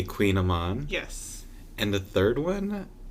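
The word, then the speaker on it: kouign-amann: I usually go with a little bit of a Coogan Aman, or properly pronounced a Queen Aman.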